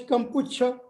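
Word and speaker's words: Kampuchea: Sometimes it is translated as Kampucha to more closely represent the Khmer pronunciation.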